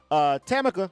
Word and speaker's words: Tammaka: on the line and introduce everybody to her chemical am I saying it right that's right yes